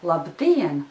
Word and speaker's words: labdien: However, there is another difference, because in the word labdien, the second syllable is stressed, but in the word šodien, the first syllable is stressed.